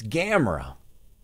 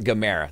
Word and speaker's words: Gamerra: would would say it but it's gamra oh it's not Gamera that's what it is it's not any of those it's gamra make sure you say it right at gamra thrash they're